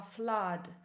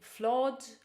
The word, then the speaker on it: flood: Jedna rzecz, którą Wam zwrócę uwagę, to wymowa słowa flood, czyli nie flood, ani flood, ani nic takiego, tylko flood. Tak samo jak blood, które jest też pisane